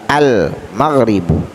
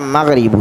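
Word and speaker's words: المغرب: qamariyah Oleh karena itu cara membacanya Alif lapnya dibaca dengan jelas al-maghrib salah kalau kita bacaan maghribu salah tapi al-mal ribu artinya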